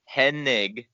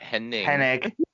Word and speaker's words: Hennig: and by the way i got to say it right it's hennig not henning it's almost one of